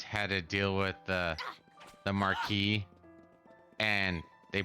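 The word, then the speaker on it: Maquis: Is when the Cardassians had to deal with the Marquis, and they pronounced it properly. It's like, no, they should have been like, we're being attacked by the Marquise.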